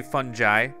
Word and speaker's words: fungi: doing mission 10 when fungi attack you could also say funi I think you can pronounce it both ways uh this is a